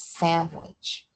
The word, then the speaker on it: sandwich: with an n, but the way it's pronounced is sandwich with an m and then the the w, the w sound.